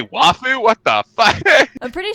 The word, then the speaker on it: waifu: Did Nico just pronounce waifu correctly?" That's true. You do say wafu.